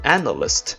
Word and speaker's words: analyst: As for analyst, it only has 3 syllables, so the stress is right in the front.